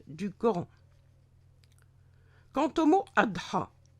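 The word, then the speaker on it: أضحى: Quant au mot Adha, il s'écrit en arabe avec en lettre finale le alif marsoura, donc avec la semi-voyelle Y, mais sans point en dessous et qui se prononce A.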